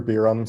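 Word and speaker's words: Beeram: Between Senators Biram, Dilip Kumar, and Nuttall, that's going to go to Senator Biram. Hi everyone, that's Senator Biram, spelled B-E-E-R-A-M.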